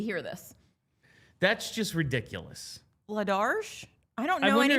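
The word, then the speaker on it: Vladař: DA Flyers man says, now that I know Vladar's name should be pronounced with a sh sound at the end, I've come up with a new nickname.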